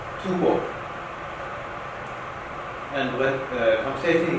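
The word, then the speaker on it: 吐蕃: And in Chinese, in Tang Dynasty, in Chinese documents say the Tibetan nation called Tubo. And when conversation, he said that pronunciation is wrong. Not Tubo, should be Tufan.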